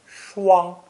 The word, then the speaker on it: 霜: This new character is pronounced first tone, shuang, meaning frost.